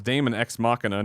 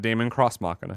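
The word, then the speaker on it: deus ex machina: says Damon ex machina is actually pronounce Damon ex machina not Damon cross machina his Greg said earlier so I'm stupid got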